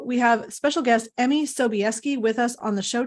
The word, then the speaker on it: Sobieski: Sobieski. It's completely phonetic. Oh, Sobieski. Well, I would not have guessed. Perfect. Wonderful. So we have special guest Emmy Sobieski with us on the show today.